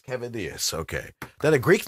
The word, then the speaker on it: Kavadeus: yeah can you hear okay John yes John cetus is that how you pronounce that no but it's close enough cavadas cavadas okay that a Greek name yes all right